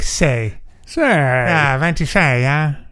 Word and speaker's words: sei: How is it spelt? SEI, I think. But it's phonetically like it's like say.